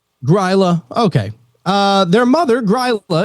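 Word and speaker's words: Grýla: their Mischief their mother gorilla is it gorilla or Gua how do you say that probably both ways depending on who you who you're asking grla okay uh their mother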